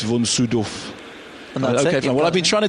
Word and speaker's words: von: once met him and I said how do you pronounce your name and he said well how how how do you pronounce it and I said well Von he said well officially it's vonu okay well I've been